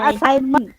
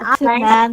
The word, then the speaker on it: assignment: Kalau yang ini bacanya assignment, bukan assignment tapi assignment. G-nya ini disebut sebagai silent letter atau huruf diam.